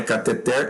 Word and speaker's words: cateter: A palavra cateter e ruim devem ser pronunciadas como oxítonas e não recebe acento gráfico. Morreu a treta. Então é cateter e ruim.